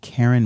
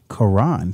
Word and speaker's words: Karan: And other groups include Vibe Element, Coalition, and Karen Marcellus and the Big Bang Theory. Karan. Thank you for the correction. Karan Marcellus. Karan, I apologize for mispronouncing your name.